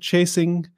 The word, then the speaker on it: Chaisson: We're just pronouncing it Chaisson, Chaisson, Chasing, whatever you're having yourself, but you say Chaisson.